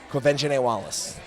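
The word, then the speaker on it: Quvenzhané Wallace: How do you pronounce her name? Quinvene Wallace.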